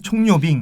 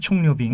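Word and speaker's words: 蔥油餅: 그리고 한 가지는 총요빙이라고 하는 총요빙. 네, 총이 이름이 좀 이쁩니다. 총요빙. 네, 그렇죠. 파를 의미하고요. 요우가 기름이고 빙이 이제 뭐 전병할 때 그 병. 네. 그게 이제 중국어 발음으로 빙이라고 해요. 그래서 총류빙인데 이거는 파를 넣은 반죽을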